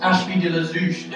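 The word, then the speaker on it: Ashby-de-la-Zouch: It's pronounced Ashby Deazouch.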